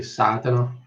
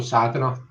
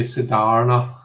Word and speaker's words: sadhana: Kristen says, "I say sadhana." Emphasis on the first syllable, so sadhana. Simon says, whereas I say Siddharna.